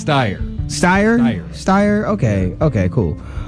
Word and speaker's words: Steyer: Steyer just Eyre State how do you say that man's last name stair star I think it's Steyr Steyr steyr okay okay